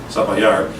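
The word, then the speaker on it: Zapallar: If you're looking at your map, Sapallar begins with a Z. It's pronounced like, at least in Chile, like an S, Sapallar.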